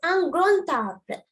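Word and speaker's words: grand arbre: Okay, the first one, it is grown. The D is silent, grown. But here it's ungrown tabre.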